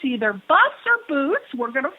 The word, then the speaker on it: Buss: in La I mean if you're a little German it's boost but Buzz is definitely